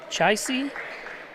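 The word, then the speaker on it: Ciaci: How do you say his first name? Chisy. It's C I A C I.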